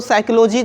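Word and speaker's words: psychology: दोस्त इस वर्ड को साइकोलॉजी को पढ़ते हुए लेकिन यह पता नहीं होगा कि से साइकोलॉजी क्यों पड़ते हैं पीस साइलेंट क्यों होता है तो आज आप लोगों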